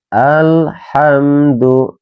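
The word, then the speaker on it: الحمد: itu salah teman-teman ya tidak boleh dibaca al ya harus dibaca jelas karena ini termasuk hukum bacaan izhar izhar qamariah jadi harus dibaca jelas alhamdu ya alhamdu Karena izhar qariah, jadi harus dibacanya jelas.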